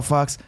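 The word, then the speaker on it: Fawkes: And then Fox comes back, and he's like, oh, Fox, I was just a little.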